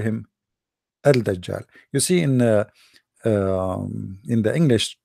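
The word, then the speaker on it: الدجال: They say Ad-Dajjal because in Arabic here there is L, but they are trying to supposedly to teach you how to pronounce it. So Ad-Dajjal, they make it shorter, but the fact it is Al-Dajjal.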